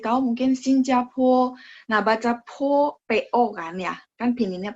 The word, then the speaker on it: 坡: Nah, baca po, PO kan ya. Kan pininnya PO. Nah, P dibaca PH. Masih ingat ya, ada angin. Terus O-nya itu dibaca UO. Po ya. No po, no. Po ada UO-nya ya.